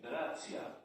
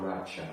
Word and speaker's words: racja: Racja. Racja, not Racha.